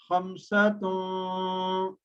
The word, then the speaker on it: خَمْسَةٌ: So we'll pronounce khamsatun, right? Like in flow.